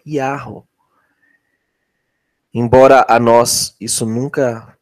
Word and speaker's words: Yahweh: A pronúncia é Yahweh.